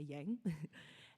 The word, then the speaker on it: Yang: for a moment yeah is my family name pronounced young but it's okay we can say Yang and yeah which is